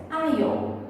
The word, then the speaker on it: aisle: Corredor, nós pronunciamos em inglês aisle.